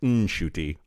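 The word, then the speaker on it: Ncuti: it turns out that shuy gatwa uh I saw an interview that he did with a outlet about uh Doctor Who but in there he said actually my name's pronounced NY I saw this I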